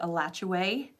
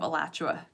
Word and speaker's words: Alachua: Gainesville by the way you probably will actually pronounce it a latch away instead of Alachua County I still say Alachua County because I think a latch away sounds weird but um but yeah